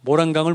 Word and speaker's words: 모란강: 모란강을 무단장이라고 억지로 가르치려는 사람도 전 이상하다고 생각해요. 제 입장에서는. 굳이 중국말 발음해야 되나요?